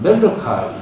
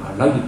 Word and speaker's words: 말라기: 영어로 하는 사람들은 멜로카이 이렇게 읽어요. 그 사람들은 말라기 발음이 잘 안 되는 것 같아요. 근데 히브리어의 말라기예요.